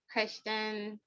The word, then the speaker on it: Krishtun: Okay, so I guess my person is gonna be Christian, and on Instagram, her page is by Christian, and Christian is spelled KRISHTUN.